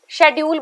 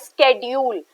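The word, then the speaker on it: schedule: talking about this word इसे सब शेड्यूल बोल देते हैं बट प्रोनंसिएशन की बात करूं तो the word is a pronounce as स्केड्यूल तो देयर इज अ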